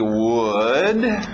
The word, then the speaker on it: would: temos o primeiro aqui would mesma pronúncia que nós vimos com could lembra não é aa pronúncia é a mesma coisa que good aquele som do soco na barriga good sim é a mesma pronúncia de madeira Wood Ok Wood muito bom